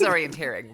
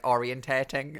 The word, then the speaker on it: orienteering: call that orienteering orienteering is it orienteering it is orienteering but i like that you you pause because my favorite thing is when when people say it wrong and they'll say like orientating and stuff like that before i've definitely done